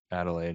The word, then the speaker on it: Adelaide: years live Australia how do you say it Adelaide Adelaide yeah yeah so I mean that's the more